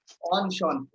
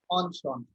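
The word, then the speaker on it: enchanté: Then we add more greetings on Sean. So this is pronounced as on Sean.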